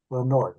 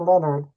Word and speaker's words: Lenord: Lenord, and it is spelled Lenord. Lenord. It's not Leonard, it's Lenord.